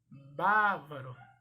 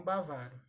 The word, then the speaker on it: bávaro: E para paroxítona, bávaro e não bavaro.